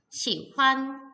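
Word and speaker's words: 喜欢: 좋아하다 넋이 기억나요 4 중국어로 좋아 다 라는 단어는 시완 시환 이라고 삼성 경성으로 발음을 하게 되는데요 워시 환 쪼 살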